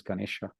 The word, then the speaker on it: Ganesh: And her son, the elephant-headed god, is Ganesha, or Ganesh without the A at the end. In Bengal, it's pronounced Ganesh.